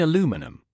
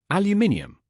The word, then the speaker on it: aluminium: I corrected someone's pronunciation in a shop. "You mean aluminum?" He looked at me. "Aluminium."